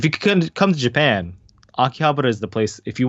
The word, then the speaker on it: Akihabara: Yeah, if you want to say Akihabara, that's fine.